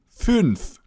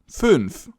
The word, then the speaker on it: fünf: So you make a U sound, in German U, and then you round your lips, so U becomes Ü. Just like in fünf, 5, fünf.